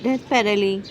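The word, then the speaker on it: desperately: Some time I have डेस्पेरली wanted to be alone in a quite place. अच्छा जी। Some time कभी कबभार कभी-कभी I have डेस्पेरली। इसमें ना T silent है। डेस्पेरेली बोला जा रहा है।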